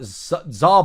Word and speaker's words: tsar: So he says, I'm in the four corners of the world, animals spinning, punishments falling like tsar bombs, silent T on that one there.